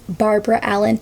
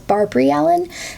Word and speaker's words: Barbara Allen: her name is technically Barbara Allen. However, I already know this song like going into this and a lot of the American versions, like the traditional American folk versions, pronounce it as Barbrey Allen.